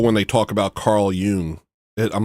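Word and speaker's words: Jung: Carl Young. Actually, yung. It's called Ying. All right, Dad. I love doing that. It's one of my big It's one of the great pleasures of my life is correcting people's pronunciation of Carl Yung.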